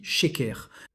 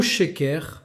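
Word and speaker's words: שקר: Fait intéressant, en hébreu, mensonge se dit sheker.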